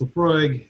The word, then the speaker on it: Laphroaig: it forever uh this one in specific laphroaig pronounced laphroaig is an all malt scotch whiskey from the